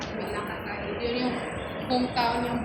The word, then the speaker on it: Melaka: Tapos diretso na tayo Melaka, mga more than 2 hours din. Yun yung hometown ni Mamran. Melaka? Malaka. Malaka? Malaka. Pronunciation ko, Malaka.